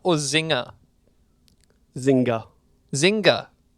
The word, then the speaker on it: Zynga: Take-Two has acquired Zynga, the second biggest deal in games history. Zynga or Zynga? Zynga. Zynga. I think you pronounced the G, yeah. Zynga.